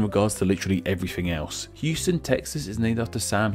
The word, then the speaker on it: Houston: And while they are spelled the same, they aren't pronounced the same. Which, believe me, I found out about in my Neighborhoods of NYC video. In Texas, we have the city of Houston, while in NYC, we have Houston Street.